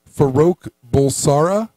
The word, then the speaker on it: Farouk Bulsara: His real name is actually, I can't even pronounce it. It's like Faroka. Here we go. Farouk Bulsara.